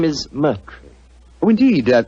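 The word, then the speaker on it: Murtry: Doctor uh my name my name name is Merry Oh indeed spelled m u r t r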